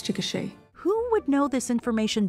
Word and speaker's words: Chickasha: helpful oh where was that help when i mispronounced chickasha oklahoma for an entire podcast it's a it's chickasha who would know this information better than a